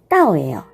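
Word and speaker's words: 倒: 자, 거꾸로 하다라는 단어가 바로 따오예요. 따오. 자, 그런데 도착하다, 복이 오다라고 할 때 오다라는 동사가 또 발음이 따오예요. 같죠?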